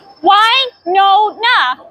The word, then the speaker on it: Wynonna: How do you pronounce it? Wynonna.